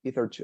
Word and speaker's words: hitherto: Hitherto, until now, right? The pronunciation would be something like he. No, with he. Hitherto, like that.